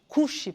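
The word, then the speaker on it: כושי: "Kushi", with the stress on the first syllable.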